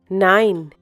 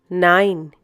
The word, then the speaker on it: nein: no you will say nein once again 9 the pronunciation is same as the English number 9 the next word is